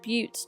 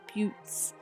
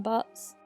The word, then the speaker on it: buttes: in the midst of buttes. I think that's how you pronounce them, although I really want to call them butts.